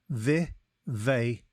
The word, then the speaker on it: vivacious: It is pronounced vivacious and is spelt V-I-V-A-C-I-O-U-S.